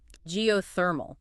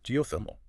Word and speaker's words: geothermal: the hang of it geothermal the emphasis is on the third syllable geothermal got Geo refers to